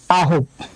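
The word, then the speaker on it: 아홉: সাথে আছে আ, তাই আমরা শুধু আ নিলাম। তারপর আছে হচ্ছে হিউথ, হিউথের নিলাম হ। তারপর আছে ও, ওর জন্য দিলাম একটা ওকার। আর নিচে আছে বিউপ, তাই নিলাম একটা প, বিউপ নিচে বসলে উচ্চারণ হবে প। ওকে, তাহলে এটা উচ্চারণ হবে আহব, আহব মানে হচ্ছে 9।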